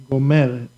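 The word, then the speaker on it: גומרת: You see, I force, I give the intonation, the force here at the first Gomeret. Meret. Gomeret.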